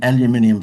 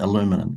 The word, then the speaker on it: aluminium: time ago had an aluminium fence business and you guys pronounced that illuminum fence right and so